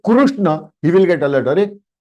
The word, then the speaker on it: कृष्ण: लेकिन when we से कृष्ण, it should be कृष्ण, कृष्ण, कुरु, कृष्ण, नॉट कृष्णा। क्री बना देते हैं इंस्टेड ऑफ रू।